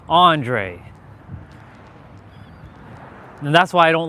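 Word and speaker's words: Andray: When they look at it without actually hearing it first, they'll say Andre, because of the way it's spelled, A-N-D-R-A-Y, Andre. My cousins call me that. It's annoying. It's not Andre, it's Andre.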